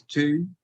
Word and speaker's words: Toon: So the Toon thing comes from apparently the Geordie pronunciation of town, which is Toon, but I'm really crap